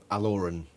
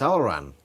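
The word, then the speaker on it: Alloran: I'm a bit triggered by the way he pronounces Alaran's name. Yeah? Aloran. What's wrong with that? It's Alaran. How do you know?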